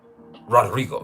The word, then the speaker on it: Rodrigo: But you have to roll your R's. Rodrigo the Dawn. And you can't say it Rodrigo. No, you say Rodrigo.